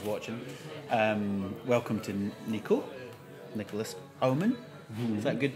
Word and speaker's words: Nicolas Haumann: to everybody who's watching um welcome to Nico Nicholas ohman is that good pronunciation that's good enough yeah good enough okay